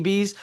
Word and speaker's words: Bese: Bese is okay.